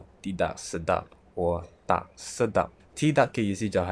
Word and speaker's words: Sedap: "Sedap" means delicious "SE-DAP" not pronounced as "SI-DAP" not "SE-DIAP" Please don't say it wrongly.